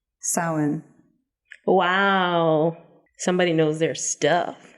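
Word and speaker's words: Samhain: would you pronounce this word I'm going to spell it you might need to write it down I don't know but s a m h a i n Sam Hayne sin wow somebody knows their stuff yeah I was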